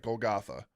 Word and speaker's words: Golgotha: has a distinctive cliff face resembling a skull or a Gothgaga or a Golgotha. Excuse me, I mispronounced that. Golgotha. Okay.